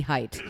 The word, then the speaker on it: Haidt: Weston Jonathan Haidt height I always pronounce it hey it's not it's definitely height H AI I do